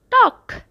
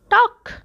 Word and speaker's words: talk: love Hasiba love hosiba talk it is silent letter L it's talk talk next word fight next